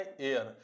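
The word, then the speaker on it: heir: इसको पढ़ेंगे हम लोग क्या भाई, एयर। अब इसको हेयर नहीं पढ़ दीजिएगा, इसको पढ़ा जाता है एयर। इसमें जो एच है ना, ये साइलेंट हो जाता है।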